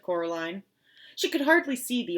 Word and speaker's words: Coraline: "No," said Coraline. The old man shrugged. "They are funny, the mice. They get things wrong. They got your name wrong, you know. They kept saying Coraline, not Caroline, not Caroline at all."